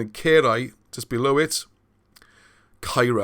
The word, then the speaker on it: Caerau: And in Caerau, just below it, Caira, I think, the North Walian type pronunciation, or Caira, which means castles.